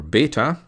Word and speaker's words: beta: Next, we move to the Greek letter beta or beta, and again, the capital